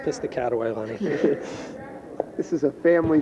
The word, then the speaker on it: Piscataway: Actually pronounced Piscataway, Lenny.